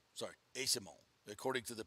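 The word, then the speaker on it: Eyssimont: Lightning's latest trade breaking in bringing in Michael isomo from San Jose or Asimo sorry Asimo according to the pronunciation guide that's what it is but um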